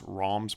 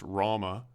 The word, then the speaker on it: Rama: translation more accurately reflects rom's personal transformation over the course of the epic the great hero rom and no it's not pronounced rama was the first born